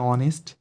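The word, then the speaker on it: honest: বাট এখানে horse H দিচ্ছিল, আমি এই বসেছি, কিন্তু এখানে অনেস্ট, কিন্তু তার সামনে অ্যান বসাইছি কেন? কারণ অনেস্ট এইচ থাকলে উচ্চারণ হচ্ছে অ, অ ভাওয়েলের মতো উচ্চারণ হচ্ছে, এই জন্য বলছি সাউন্ডের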